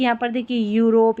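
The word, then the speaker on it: Europe: फिर है EU को यू पढ़ते हैं, इसका उच्चारण होता है EU का यू। जैसे कि यहाँ पर देखिए यूरोप, ये शुरू में आ रहा है ना, यूरोपियन।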